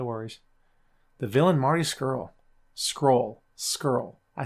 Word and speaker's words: Scurll: Skrull. I say Skrull. Right? I say Skrull. I think that's how you pronounce it. Seems how everybody else pronounces it.